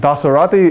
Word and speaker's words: Dasarathy: And Dasarathy is like Maserati, the car company.